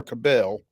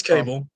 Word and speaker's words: Cable: Christ Presbyterian Academy receiver Owen and I'm not sure if it's Cable or Cabel. It's Cable. It is Cable.